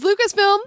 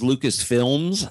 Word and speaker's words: Lucasfilm: What is Lucasfilm? What is Lucasfilm? You know, if he had said, "What is Lucasfilms?" like so many people do, he probably would have been declared wrong because he mispronounced some